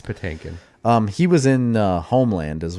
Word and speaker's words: Patinkin: Mandy Patinkus? Is that his name? Patinkin. It's Patinkin.